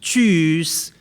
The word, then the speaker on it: Tschüss: telling people to die, it's Tschüss Chinese "go die", if you say it like this, later everyone Will start